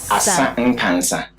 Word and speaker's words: Asa Nkansa: Asa Nkansa. Asa Nkansa. Yeah. What does it mean? It rhymes, Asa Nkansa.